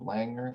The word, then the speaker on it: Langer: My name is Langer, Langer with an L, rhymes with clanger, and that's what I want to do, these Gongar mechs.